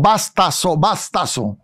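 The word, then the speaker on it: βαστάζω: Sí, la palabra sobrellevar viene del griego bartazo o bastazo, se pudiera pronunciar con Z.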